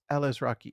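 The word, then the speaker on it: Alazraqui: yeah, Alice Rocky.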